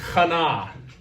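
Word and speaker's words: חנה: It looks like chana, right? Actually, it's pronounced chana. Now, that is the name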